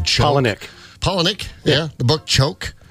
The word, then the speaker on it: Palahniuk: I don't know how to pronounce his last name. Palahniuk.